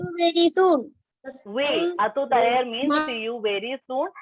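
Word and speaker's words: à tout à l'heure: Atu taler. Very soon. We atu taler means see you very soon, and you can pronounce that R here. R is not silent.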